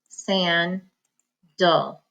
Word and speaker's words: sandal: next word is sandal San dull but it looks like San dal san now sandal one